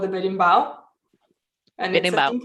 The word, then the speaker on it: Berimbau: It's called the berimbau.